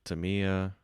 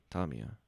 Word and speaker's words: Tamiya: Are you looking for a seat at the table there with Dragon and Tamiya? Tamiya. I think Tamiya is the more Tamiya. I think that's the more um, appropriate Japanese pronunciation.